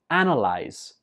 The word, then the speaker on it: analyze: analysis, and it is analyze. Analyze. Analyze. Some students pronounce this as analyze because in the spelling it has an A, but when we're speaking, we just pronounce it analyze.